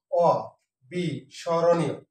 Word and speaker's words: অবিস্মরণীয়: অংশগ্রহণ করার জন্য আবারো আমন্ত্রণ জানাচ্ছি শুরুতে আছে অবিস্মরণীয় শব্দটি তার আছে একটি অধ্যষায় এখানে আছে আছে আবৃত্তি আবৃত্তি তারপর ঐকমত্ব ব্যতীত তথ্য শর্তব্য সঠিক যে উচ্চারণ সেটি আমি লেখানোর চেষ্টা করছি এখানে আছে অ বি স্মরণীয় সঠিক উচ্চারণটা কেবে এখানে অটা এই অবিসরীণ শব্দটা হচ্ছে